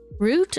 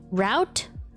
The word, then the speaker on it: route: say the word root root rhymes with boot route rhymes with shout one way is a